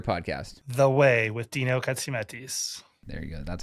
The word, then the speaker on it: Katsiametis: The Way with Dino Katsiametis.